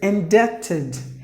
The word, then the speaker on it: indebted: And the next word is indebted. Indebted. 3 syllables. The letter B is silent, and the stress is in the beginning. So indebted. So in should be given more volume.